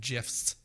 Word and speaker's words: GIF: Yeah, and if you pronounce it as a GIF, you're fucking wrong. Yeah. No, I agree. We're not spreading peanut butter on our, videos, okay? It's Yep. GIF.